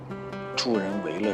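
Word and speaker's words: 助人为乐: 这么多年，我突然发现 “ 助人为乐 ” 这个词，我念错了很多年。“ 为 ” 字应该念成 4 声，帮助别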